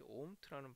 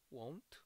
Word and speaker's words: won't: 저는 이 omt라는 발음이 항상 발음이 잘 안 돼가지고 그런데 won't 그랬는데 그게 아니고 omt라고 그러더라고요. omt. 암만 해도 W 발음이 이제 우 발음 비슷하게 해서 동그랗게 입을 모으거든요.